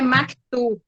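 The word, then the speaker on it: مكتوب: a pronúncia é maktub.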